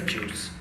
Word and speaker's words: Guice: google built library that we call pronounce as a juice okay so i using